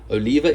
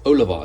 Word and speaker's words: Oliva: enough a South American friend whose last name is spelled the same way and he says it's not Oliva it's Oliva Oliva apparently is how we said how us